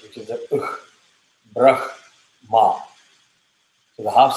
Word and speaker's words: Brahma: You say brah, ma separately. Brah, ma. You don't say brah, khma. Very difficult to say. So you always say brah, ma. We are always taught as Brahma.